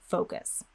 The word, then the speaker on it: focus: as much as possible so even if you don't change your pronunciation of the o sound in any other word i highly recommend that you do it here for the word focus so again glide those lips forward make sure you feel